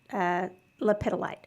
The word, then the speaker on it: lepidolite: I chose one of my favorites is, and this is how I pronounce it, lepidolite.